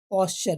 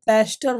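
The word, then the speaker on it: pasture: पास्चर बच्चों, पास्चर का मतलब क्या होता है बच्चों, चारागाह या घास का मैदान, ग्रास लैंड भी आप बोल सकते हो, ग्रास लैंड, ठीक है। और जो पेस्टर नहीं होता है, पेस्टर क्या है आपका, रॉन्ग है, ठीक है।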